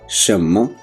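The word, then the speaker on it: 什么: Pronunciation को पहले समझ लीजिए। शम्मा, शम्मा, जी बिल्कुल जिस तरह शम्मा बोला जाता है उर्दू में, शम्मा जिसका मतलब है व्हाट, यानी कि क्या।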